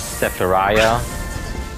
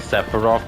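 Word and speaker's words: Sephiroth: It was like someone talking about Final Fantasy and they couldn't pronounce Sepharov correctly. They kept act they kept calling him Sephariah and I I just took it to calling him Sephariah from now on.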